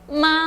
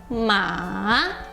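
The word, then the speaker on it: 马: E se fala ma no terceiro tom, ma.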